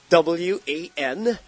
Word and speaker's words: Palawan: How do you spell that? All right, sure. Palawan. That's Palawan.